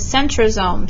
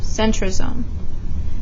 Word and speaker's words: centrosome: spelled phonetically alright so one example of that is centrosome sun TRO psalm centrosome chromatin kro ma 10 those are phonetic spellings okay